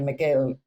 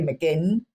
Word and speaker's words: McGinn: But check out, and I have to say quickly, because I always call Jenny McGill, and it's 2 N's, but I always pronounce it wrong. I just can't say McGinn.